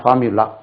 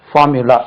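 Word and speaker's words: formulae: படிக்கிறோம்னா ஒரு வேர்ட் வச்சு நீங்க இதை சிஸ்டம் படிச்சிட்டீங்கன்னா ஃபார்முலா பாருங்க ஃபார்முலா f ஆர் எம் யூ l a ஃபார்முலா இதுக்கு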